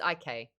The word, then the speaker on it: ich: But it's IK.